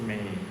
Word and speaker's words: me: 第二个字 me 的意思就是我的意思。 The same wording as English. Buddha may, but in Pali we read it may, not me, may.